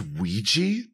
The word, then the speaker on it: Ouija: it's a good idea it's pronounced Ouija how do you get that from those letters it's French it's a it's a sick